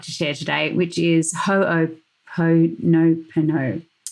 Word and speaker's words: Ho'oponopono: Ho'oponopono. Ho'oponopono. Ho'oponopono. Ho'oponopono. I'm going to spell it for you.